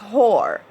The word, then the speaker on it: whore: you to know that the word whore is wh o ar e and it's whore if you were to go in the dictionary and check the proper pronunciation is whore but anyway we're not